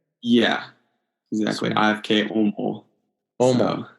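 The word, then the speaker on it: Åmål: Omal. So, yeah, it's spelled, AMAL, but both A's have a little circles over them, Swedish, so it comes out like an OU sound.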